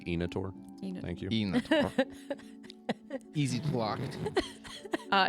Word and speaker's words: Inator: a nator on it is it nature it's pronounced enator thank you easy blocked